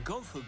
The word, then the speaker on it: gunfu: Also, I thought he was mispronouncing or like had a heavier accent and was saying like kung fu weird. He's saying gun fu.